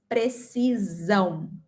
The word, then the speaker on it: precisão: In Portuguese, we have one S between two vowels and we pronounce precisão. Precisão with a Z sound.